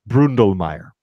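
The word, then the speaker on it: Bründlmayer: you with an umlaut NDL ma y er Brundle Mayer Oh see that changes everything yeah you you should know that Willi Brundle Mayer Farms 75 hectares of Gruner Riesling and a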